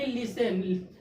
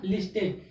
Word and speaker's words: listen: यानी लिसन क्या? LISTEN। जब टी को हम लोग साइलेंट करेंगे तब क्या हो जाएगा? लिसन। और टी को अगर हम लोग साइलेंट नहीं करते हैं तो क्या जाए? लिस्टेन।